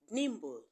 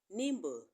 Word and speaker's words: nimble: subtle is also silent but the b in Nimble is not silent okay so that is